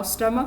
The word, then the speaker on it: stomach: Now stomach of course ends with ch, but the sound which is coming when we pronounce it is k.